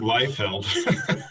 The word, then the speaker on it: Leifeld: Martin, is it Leifeld? I didn't ask you how to pronounce your name. Yeah, I pronounce it Leifeld.